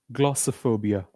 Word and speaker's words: glossophobia: Why do we call it? Because we don't stress all the syllables in a word. We simply we only stress one or two syllables. So we have to stress the first part.